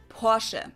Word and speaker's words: Porsche: the ex German side in German we say por so there's like this short a sound in the end Porche it was founded by